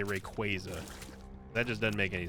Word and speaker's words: Rayquaza: Favorite Pokemon overall is still going to be Rayquaza. No, I will not get drawn into another debate on how to pronounce it.